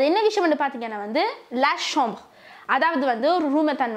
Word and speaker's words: la chambre: அது என்ன விஷயம் வந்து பார்த்தீங்கன்னா வந்து லா ஷாம்பர், அதாவது வந்து ஒரு ரூமை தான் வந்து ஒரு அறையை வந்து நாங்கள் லா ஷாம்பர் வந்து சொல்லுவோம். ஃபர்ஸ்ட்டு நான் உங்கள்கிட்ட ப்ரொனன்சியேஷன் பண்ணி காட்டுறேன். லா ஷாம்பர், லா ஷாம்பர், நீங்கள் எம்சின் சொல்லுங்க, லா ஷாம்பர்.